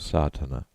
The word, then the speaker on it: sadhana: A word may be added about the pronouncing of sadhana. The accent falls decisively on the first A, which has the broad sound of the letter.